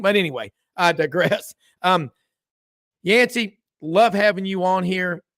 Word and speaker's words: Yancy: on super talk Mississippi it's two syllables folks and uh yansy uh 11 wins where